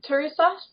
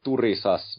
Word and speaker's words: Turisas: pronounced well again like in finish it would be turisas with a completely different R is it a roll do yeah but and there's really no stress on none of the syllables really it's just Tas but